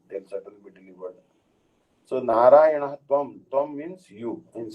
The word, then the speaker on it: Narayana: Narayana, Lord Narayana. Narayana, actually the name has 4 syllables, as everyone is aware.